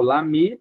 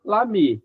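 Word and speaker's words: l'amie: Será que não que tem um eho no final, mas na pronúncia a gente não pronuncia o é. Então na fala é igual lami, lami, tanto o amigo quanto a amiga.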